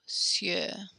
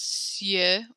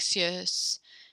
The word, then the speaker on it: cieux: Xavier, can you pronounce cieux one more time? Good. I think you pronounce it almost sounded like cieux, like there was an S on the end, but there's just cieux.